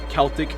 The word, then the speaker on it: Celtic: forms of brain damage it's called Uh Celtic pronounced Celtic very confusing that does make things a